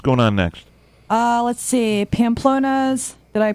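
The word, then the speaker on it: Pamplona's: Pamplonna's. Did I pronounce that correctly?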